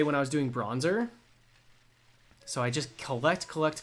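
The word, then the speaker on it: Bronzor: guys are so fickle did you say bronzer yes bronzer that's literally its name that's so ridiculous unless its name is short for Bron Zordon I will not be changing the pronunciation what's my favorite new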